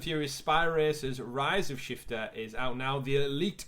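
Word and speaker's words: SH1FT3R: races of shifter and it's we know it's pronounced shifter but it spelled like it was on a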